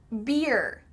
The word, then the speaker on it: beer: So, let's say it slowly, beer, beer. Do you hear that final part, er, er, er.